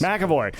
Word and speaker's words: McEvoy: McEvoy. All right. 6 letters, Okay. 3 syllables, accent on the first one where there's no vowel.